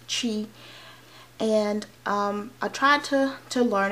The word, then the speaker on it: Twi: But it's T-W-I, it's pronounced Chi.